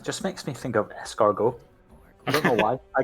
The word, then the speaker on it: escargot: You know, if you heard me just pronounce the French R, it's escargot. Escar. It's like train. You don't actually pronounce it as like a hard R like we do.